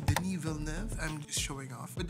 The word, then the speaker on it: Denis Villeneuve: which is the director yes that's how you pronounce his name denal n I'm just showing off but denal love just